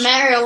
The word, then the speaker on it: Mario: And Raven Mario. likes to play Halo Reach. And Mario. It's pronounced Mario, it- not Mario.